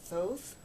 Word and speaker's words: Thoth: and I think you pronounce it Thoth.